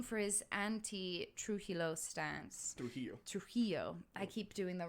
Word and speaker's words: Trujillo: for his known for his anti-true hilo stance trujillo i keep doing the wrong embassies on the wrong syllable yeah and and uh so he for